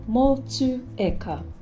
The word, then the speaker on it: Motueka: Motueka. Move away from Motchewayka and say Motueka.